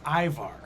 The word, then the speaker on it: Ivar: Aymar's Viking pronunciation is Ivar.